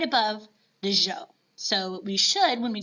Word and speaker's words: Zhou: And I know that it's spelled with a Z, and I know, kind of like Miss Lewis was saying, sometimes the pronunciations in China can throw us off. But this one I always remember, Zhou. It kind of sounds like a French guy trying to say the name Joe.